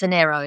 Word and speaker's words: Onero: And some of her uh it's Onero is the right pronunciation. ONER.